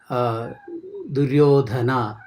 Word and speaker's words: Duryodhana: Du, da and dha. One is Alpaprana, one is Mahaprana. And when you write it in many other languages, you will not be able to know the proper pronunciation in the proper manner. Da and dha. Duryodhanastatha. Duryodhanastatha. Duryodhanastada. You are not very sure about it. But in Sanskrit, every syllable has got a rule, law, how to pronounce it a proper manner.